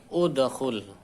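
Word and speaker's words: ادخل: Contohnya ini, dakhala yadkhulu udkhul. Nah, huruf ketiganya itu 2, 3 dhammah. Maka ini hamzah wasolnya dibaca dhammah. Udkhul.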